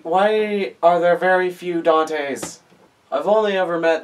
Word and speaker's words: Dante: say my name is Dante hi Danny it's not Dan it's not Danny it's Dante okay boys why why was I named Dante why why are there very few Dante's I've only ever met